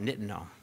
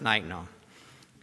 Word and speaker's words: nitinol: made of nickel titanium which you pronounce nitinol I'm from North Carolina so when I first saw what i call it nitinol but now I've learned that it's night now but nitinol is nickel